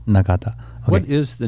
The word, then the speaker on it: Nagata: Can you pronounce that for me? Seiko Nagata. Nagata.